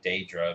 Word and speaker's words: Daedra: Yeah, and I prefer the term Daedra because that's how, like, most characters, most people in the games pronounce. That's how most people across the games pronounce it. Plus, I think it just sounds better than Deidre.